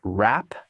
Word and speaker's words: wrap: Notice that the W at the beginning of the word wrap is not pronounced. To wrap things up.